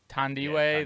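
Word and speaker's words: Thandiwe: I like Chris Pine, Tandiwe. Tandiwe.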